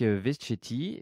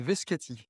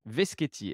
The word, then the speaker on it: Veschetti: Aujourd'hui, je reçois Veschetti. J'ai bien prononcé, ton nom, ça va? Pas tout à fait, c'est Veschetti. Veschetti.